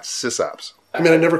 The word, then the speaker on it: SysOp: We're not SysOps. I mean, I never called it system operator. It's just, it's not a system operator. It's a SysOp. Oh, by the way, I say SysOp, not SysOp.